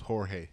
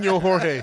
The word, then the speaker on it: Jorge: That nigga name was Jorge. Jorge Rivera. Nino Jorge. The J is silent. It's silent, bro.